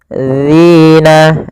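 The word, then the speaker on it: الذين: Hati-hati agar sempurna dari makhraj dan sifatnya adalah ujung lidah kita kita tempelkan dengan gigi atas agak kita keluarkan sedikit sehingga berbunyi dzi dzi maka faammalladzina dzina.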